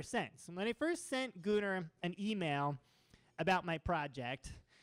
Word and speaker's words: Gunnar: I plan to spend the next couple of weeks birding around Peru with this gentleman whose name is Gunnar. Rhymes with lunar, as far as I can tell.